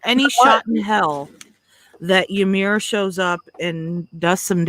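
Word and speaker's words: Ymer: Just So yeah, for this side of the draw, I mean, why couldn't somebody have given like Ymir? Is that how we pronounce his name?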